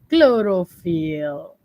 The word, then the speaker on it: chlorophyll: Inside the chloroplast, we have our chlorophyll. Okay. Chlorophyll, be careful with the pronunciation.